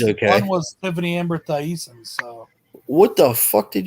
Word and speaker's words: Thiessen: Thiessen, whatever. It's just decent. Tiffany Amber That's how it's Thiessen. spelled. It's spelled Thie. Yeah, but still decent. Thiessen.